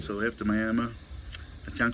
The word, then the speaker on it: Miami: to a town called, it's spelled like Miami of Florida, but it's Miami, they say.